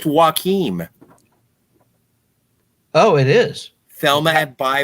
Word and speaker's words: Joachim: just won best female lead at cannes it's pronounced joakim oh it is thelma by joakim trier trier